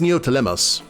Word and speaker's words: Neoptolemos: It's Neoptolemos. Yeah, because the P is silent, I believe.